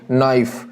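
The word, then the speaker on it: knife: यहां पर शब्द लेंगे नाइफ नाइफ में यहां पर के इस शब्द में 30 साइलेंट और इसको क्या बोला जाएगा नाइफ ले जाएगा इसी प्रकार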